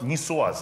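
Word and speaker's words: niçoise: Он же называется салат нисуаз, да? Вот как, по-моему, правильно произносится. Нисуаз.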